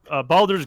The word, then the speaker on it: Baldur's: Hey, I love Baldur's Gate, and I actually like Dark Alliance, It's but it is Baldur's not thing.